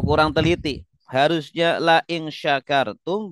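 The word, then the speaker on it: شكرتم: Harusnya la ing syakartum, bacanya la ing sakartum.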